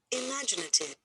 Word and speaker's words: imaginative: So what you put here 5 means we have 5 syllables. And The stress is on the second syllable.